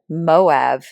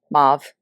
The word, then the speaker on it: mauve: Out of all the words she's mispronounced, I think the way she says Moab is up there for me. Mauve.